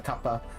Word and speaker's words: Kappa: I pronounce as kappa, by the way. So like the Japanese mythical creature, right? The kappa.